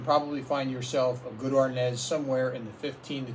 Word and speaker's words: arneis: chance you can probably find yourself a good ornaz somewhere in the 15 to 20 dollar range which is what i paid for this one from delaware again i'll post it's spelled a-r-n-e-i-s harness white barolo from northern italy in the piedmont